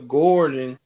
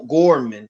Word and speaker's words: Gorman: Amanda Gordon. She's gonna be on the cover of Vogue magazine. She's gonna be Yeah, did I say it right? Gorman. Yeah, Gorman, yeah.